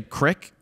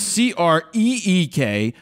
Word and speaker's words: creek: rapid fire critique, that when people say crick, mm-hmm. you have a crick in your neck, not in your backyard. Okay? It's spelled C-R-E-E-K. That's creek.